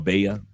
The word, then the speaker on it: Valle: It's spelled like valley but you pronounce it as Beo or Bea.